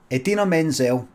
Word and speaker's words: Idina Menzel: i'm here at the there you go edina menzel now that's how how she pronounces her name but john travolta had